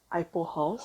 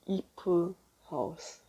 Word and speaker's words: Ipo House: One is Ipo House. I pronounce it Ipo because, you know, I as in like the letter I. But the Korean reading of it is actually Ipo House. E standing for leaf, I believe. So, I mean, like, that's debatable, but like, you basically pronounce the I as E-E, so it's like Ipo House.